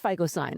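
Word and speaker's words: phycocyanin: never have heard of FISON. And why would you? And you would think it would start with an F, but it doesn't.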